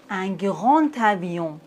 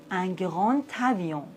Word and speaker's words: grand avion: insectes, mes nouveaux élèves, un grand avion. Mais attention, j'ai dit un grand avion dans la liaison. Le D se prononce T.